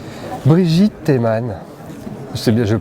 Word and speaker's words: Brigitte Teman: Brigitte Théman. C'est bien, je le prononce bien?